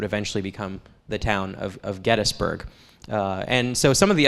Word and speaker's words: Gettysburg: to say Gettysburg actually our historian Tim Smith declared the other day he's now the official County historian that it is pronounced Gettysburg and so so we're all struggling now to say it since he's put out a decree that it will be it will be henceforth Gettysburg and 1800 the